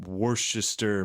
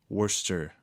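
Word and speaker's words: Worcester: Um, March 21st in Worchester, Mass. Worster.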